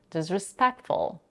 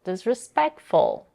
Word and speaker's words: disrespectful: Here she completely drops the t between the sounds k and f, disrespectful. She also raises her intonation on the stressed syllable, peck, to emphasize the word even more, disrespectful.